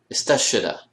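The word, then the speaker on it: استشهد: Istashada. Notice how the sheen becomes an ending consonant, not a beginning consonant. Istashada.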